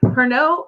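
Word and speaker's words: Pernod: of a lemon peel see it's got a D don't don't pronounce it so perno is another one of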